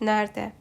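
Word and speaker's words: nerede: Да ми пам'ятаємо що в місцевому відмінку є слово нерде воно пишеться як неред але при читанні при вимовлянні Ось ця друга літерка е вона ніби випадає вони кажуть нарде або кімде у кого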